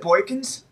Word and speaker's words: Boykins: is it Boykins?